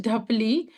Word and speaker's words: ढ: It becomes ढ एंड the pronunciation is डी एच ए ढ so this is ड this is ढ इज it clear ड या क्या है? ड ड ढ। सो कैन you pronounce with me? This is ड? ड ड ढ ठ ढ ठ यू सी the noise of द एच हैज़ टू be clear in your voice ढ